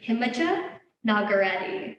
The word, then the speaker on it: Nagarati: So the way I pronounce it is Himija Nagarati with a hard G.